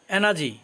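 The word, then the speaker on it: energy: এনার্জি অর্থ শক্তি, মাঝখানে আরের উচ্চারণটা হবে না।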